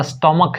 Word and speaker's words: stomach: के बजाय क हो, जैसे STOMACH या स्टोमक है, स्टोमक, तो अगर सी एच का